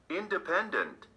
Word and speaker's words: independent: second syllable number 20 independent independent four syllables did you mark the third syllable well done now check